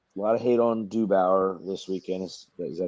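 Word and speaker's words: DeBoer: But don't forget, a lot of hate on Dubauer this weekend. Is that how you pronounce his name? DeBauer.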